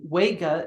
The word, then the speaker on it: Vega: And in English, we just don't know how to pronounce Latin because the V sound, the V letter should sound like a W. So it should be Vega.